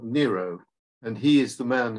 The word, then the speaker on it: Nero: this fella he's called Nero and he is the man who fiddled while Rome burned um he's also relevant because his name happens to rhyme with Net Zero um maybe coming back